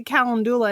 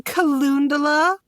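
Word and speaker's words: calendula: I can never pronounce the lady at the Apothecary every time I go corrects me cuz I say Cula and she goes don't you mean kalunda I'm like no [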